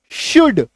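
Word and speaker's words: should: तीन शब्द आपको मिलेंगे एस एच ओ यू एल डी शुड कुड वुड clear है चलो नेक्स्ट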